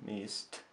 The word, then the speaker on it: missed: Здесь у нас было звучание t. Missed. Потому что глагол заканчивается на s.